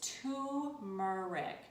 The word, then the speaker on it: turmeric: pronounce the R but I learned that the R is silent is tumeric tumeric so there you